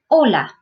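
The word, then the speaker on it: hola: oh that's oh and the a is ah so this would be Ola Ola Ola which is hello and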